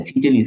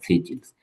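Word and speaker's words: Seychelles: The Philippines, the সেইচিলস, মানে সিচেলিস বলি না বাংলা, এটার উচ্চারণ সেইচিলস, এদের আগে দা বসবে।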